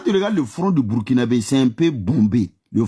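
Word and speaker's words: Burkinabè: La bonne prononciation là c'est ça. Burkinabé burkinabé ça.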